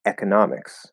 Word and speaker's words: economics: not e okay so economics economics economics i think there's primary stress on the e economy economics yeah i